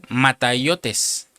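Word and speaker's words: ματαιότης: Y la palabra se pronuncia mataiotes y quiere decir inutilidad.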